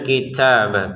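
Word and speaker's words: الْكِتَابَ: keluarin nafas sedikit ya alaikal kitabah kitabah ba yang pertama ke ba yang kedua kita baca langsung Ya, kitab. Jangan kitab bil gitu. Karena di sini ada tanda panjang untuk tanya. Kalau ba kan enggak ada.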